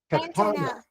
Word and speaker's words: katana: Can Okay, put on the second syllable. Katana.